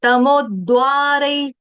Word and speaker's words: तमोद्वारैः: एतैर्विमुक्त कौन्तेय तमोद्वारै, तमोद्वारै, देखो double the ले रही हूँ, आघात है ना यहाँ पे तमो के आगे, आघात, तमोद्वारै स्त्रिभिर्नरः, तमोद्वारै स्त्रिभिर्नरः।